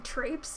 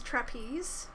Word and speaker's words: trapes: I particularly liked when people were pronouncing trapes as trapeze, because that changed the sentence's meaning by a long shot.